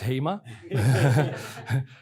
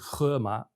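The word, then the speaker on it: 盒马: Another thing that happened is a shop You might think this is HEMA. There were quite a few journalists at the time that thought that HEMA was becoming active in China, but in Chinese you actually pronounce it Gema, and it's wordplay on the Chinese word for hippo.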